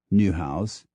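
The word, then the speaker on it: Niehaus: diatra kulos to Papas n i e whu i s pronounced new house to NE w e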